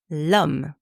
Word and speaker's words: homme: First one, l'homme, man, l'homme. Par exemple, c'est un homme intelligent. Is an intelligent man. C'est un homme intelligent. And you can hear that I'm making the liaison.